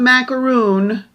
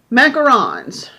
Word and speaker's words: macaron: No, not macaroon. Macarons. Fun fact about macaron cookies is that they are pronounced macarons.